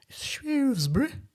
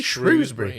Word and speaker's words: Shrewsbury: I was saying Shrewsbury. Yeah. But it's because I wasn't saying Shrewsbury. Because it's Shrewsbury. Right. That's how the locals say it.